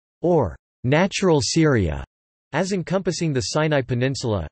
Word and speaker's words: Sūriya: The classical Arabic pronunciation of Syria is Syria, as opposed to the modern standard Arabic pronunciation Syria.